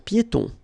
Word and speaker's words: piétons: Un passage pour piétons. Un passage pour piétons. Final S here, not pronounced, and then final not pronounced.